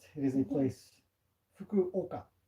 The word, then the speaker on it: Fukuoka: it is a place Fukuoka is the way to pronounce it slower but Kolka is